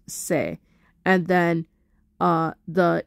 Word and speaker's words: se: soul if you flat it's going to be pronounced say and then uh the E flat minor is